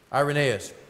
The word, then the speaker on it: Irenaeus: Irenaeus, I always call him Irenaeus, but Irenaeus is how you say that.